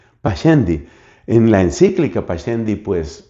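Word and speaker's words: Pascendi: Esa encíclica se llama pasendi. Se escribe p a s cendi. Pachendi.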